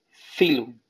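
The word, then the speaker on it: phylum: Filum. Filum se escribe pilum. P-H-Y-L-U-M. Filum.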